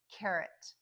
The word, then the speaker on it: carrot: So at the end of that word, you just hear the schwa, right? We don't say carrot, we say carrot. And that's because carrot only has 1 stress on the first syllable, whereas robot has the